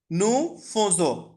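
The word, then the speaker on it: nous faisons: ঠিক আছে আচ্ছা অন আচ্ছা এটার উচ্চারণটা একটু বলে দেই একটুখানি ডিফারেন্ট সো হচ্ছে নু ফোজো হাইফাই নজ নুফজো বাট নরমালি এটা আমি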